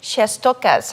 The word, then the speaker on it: Shestokas: It's Shestokas. Shestokas, just the way it sounds.